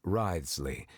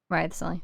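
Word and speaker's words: Wriothesley: I mentioned that I have had personal dealings with the administrator of the fortress, Wriley. Wriley.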